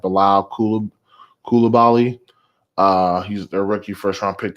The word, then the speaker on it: Bilal Coulibaly: Since my last posting on this, Washington Wizards rookie, he pronounces like Bilal Coulibaly.